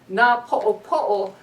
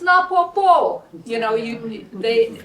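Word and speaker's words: Napoʻopoʻo: And when I lived down Kealakekua Bay, if I was to say, oh yeah, I live in Na Po'opo'o, all the fishermen would be laughing. It's Na Po'opo'o. There's a way of pronouncing.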